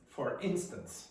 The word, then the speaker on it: instance: For instance.